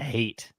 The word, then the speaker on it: Hayt: and i mean and even edrick says it's it's hate and then he spells it out h-a-y-t of course he would